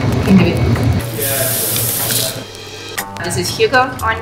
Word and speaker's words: Hygge: years collected all those thoughts and ideas and Huga can do this is Huga on name it is spelled h y g g a lot of